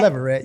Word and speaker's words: Leverette: Leverette? Leverette, you got it.